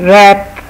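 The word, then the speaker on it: wrap: फिर है रैप, किसी चीज़ को लपेटना, रैप करना कहते हैं, इसमें डब्ल्यू साइलेंट है।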